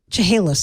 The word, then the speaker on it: Chehalis: a town in California surface Studio 3 Chehalis Chehalis I believe is how they pronounce it as a town in Washington State